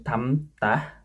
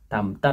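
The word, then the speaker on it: 닮다: Kemudian lil mium ini lil mium menjadi atau mium. Ini tamtah, tamtah artinya mirip. Bacanya tamtah, tamtah gitu.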